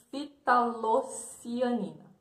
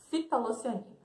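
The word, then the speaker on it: ftalocianina: Fitalocianina. Fitalocianina. Memorizem aí. Fitalocianina. O F é mudo.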